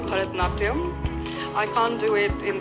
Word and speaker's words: Bharatanatyam: Help me pronounce it and show us a few steps. Well, it's called Bharatanatyam.